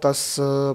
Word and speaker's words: तस्स: लोग को ओम नमो तस्स भगवतो अरहतो सम्मासंबुद्धस्स दशा इसमें देखिए नमो तस्य इसमें बहुत जगह आपने सुना होगा तस्य-तस्य संस्कृत में होता है तो संस्कृत का